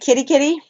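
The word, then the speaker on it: Kerikeri: took a puddle of hopper or whatever to carry carry and they pronounce it kitty-kitty which is in Northland and I met a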